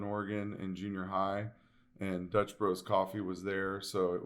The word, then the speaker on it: Dutch Bros: out and i say dutch brothers it's just bro i say dutch bros i gotta make sure